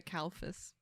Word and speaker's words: Kalfas: gingrich yeah i did it i'm kalphus yes yeah try to say my last name kalphus both of you kind of have nightmare last